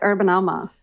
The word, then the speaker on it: UrbanAMA: essentially so we've integrated urban a may have a Twitter for exactly that so should I pronounce that urban Amma or urban AMA which do you prefer we like urban Amma ah we I like